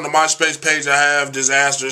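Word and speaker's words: Dizzazzter: It's Disaster, D-I-Z-Z-A-Z-Z-T-E-R, just like it's spelled in here.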